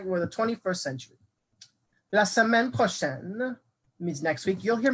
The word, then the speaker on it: prochain: Notice here, prochain looks different than prochaine. Notice how I'm pronouncing it differently. Prochaine, prochain, prochaine, prochain. Because this noun right here, le mois, is masculine.